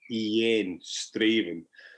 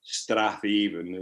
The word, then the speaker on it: Strathaven: Well, we went to a place called Straven, that's spelled Straven, Straven, not Strathaven. It's one of these Scottish pronunciations, and so they went